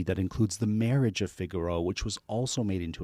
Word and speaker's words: Figaro: In Italian it's Figaro, right?